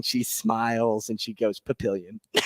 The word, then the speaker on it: Papillion: Jordy came from and she mispronounced Papillion she said Jordy what are the people back in Papillon thinking right now and I'm